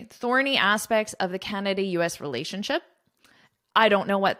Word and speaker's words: Canada: Canada, Canada. So now you know the capital of Canada, the largest city, and you know how to correctly pronounce it.